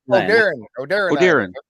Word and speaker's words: Oderin: Oderin. Yeah, like a deer in the headlights. Oderin, it's Oderin.